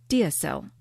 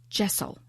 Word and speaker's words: deasil: and in Scottish Gaelic, deasil, spelled D-E-A-S-I-L. And it's a word that I've also been told is pronounced jessel.